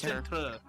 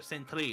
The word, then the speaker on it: Sentry: Excuse me, the Sentry. Not Centre. Not Center. Sentry. That's how it's spelled.